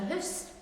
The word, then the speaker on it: hoose: a moose in a hoose. You hear that Scottish pronunciation? It's like a double O instead of O-U.